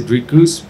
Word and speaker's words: Dricus: They said Dricus, which is a lot closer than, well, to be honest, the American folk have been struggling to say my name. It's just because of the R.